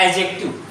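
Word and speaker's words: adjective: इसको बोलते हैं एडजेक्टिव, ऐड नहीं पढ़ता, एडजेक्टिव, एडजेक्टिव, एडजेक्टिव, एडजेक्टिव।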